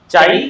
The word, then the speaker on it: chi: क्या बोलते हैं इसको, वेयर चाई इज a constant and is pronounced as चाई।